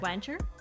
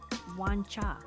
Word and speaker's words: Wancher: the name W wancha like wancher is it wer it is not it's they pronounce it wancha and so there's also